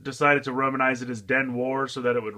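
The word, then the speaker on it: 電話: so that it rhymes they kind of romanized stuff a little differently than it's actually pronounced this is dead wha den why is Japanese for telephone so it is a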